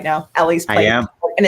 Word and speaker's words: Ele's Place: Ellie's Place. I am. And it's ELES. People sometimes wonder how it's spelled.